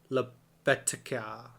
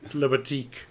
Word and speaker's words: Libatique: Film editing by Alan Baumgarten and Marianne Brandon, and then cinematography by Matthew Lebetica. It's Libattique. Your Libatique, yeah.